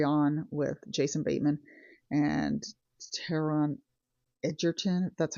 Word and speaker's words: Taron Egerton: I watched a movie last night on Netflix called Carry On with Jason Bateman and Taron Egerton.